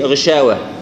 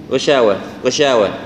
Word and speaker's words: غشاوة: شوف حرف الشين غشاوة ما نقول غشاوة لا غشاوة نحاول يعني تتفشى في الفم بالتالي.